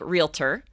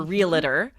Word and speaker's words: realtor: I say realtor. I put a little extra syllable in there.